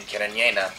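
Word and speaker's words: Cariñena: And I think the Carignan, or as they pronounce it in Spain, Carignana, is really a signature to this wine.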